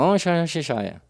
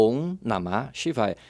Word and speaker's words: Om Namah Shivaya: Lá a pessoa, Om Shivaya. Não, você tem que falar Om Namah Shivaya. Você tem que saber o que está cantando, a pronúncia correta, para poder ter o benefício do mantra.